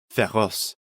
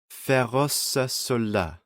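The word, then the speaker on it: féroces: this is pronounced just ferrous but in the song you actually have to pronounce the ending this is common in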